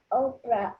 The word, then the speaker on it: Oprah: Army they named her Oprah after a woman in the Bible people often missed pronounce her name switching the r and the P so instead